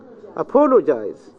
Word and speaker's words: apologize: Apologize. The stress in the first syllable.